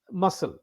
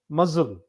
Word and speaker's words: muzzle: c l e muscle muscle a muscle is uh part of your body right yeah muscle this muzzle is it's not spelled it's not pronounced as muscle as we said in